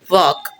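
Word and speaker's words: wok: सो कढ़ाई को इंग्लिश में बोलते हैं वॉक, VOK, वॉक, ये इसकी प्रोनाउंसिएशन है।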